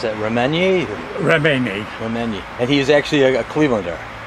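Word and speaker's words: Reményi: Well, how do you pronounce that? Remenyi.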